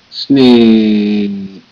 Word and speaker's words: snake: Snake. Snake. E is silent. E makes the A say A and not A.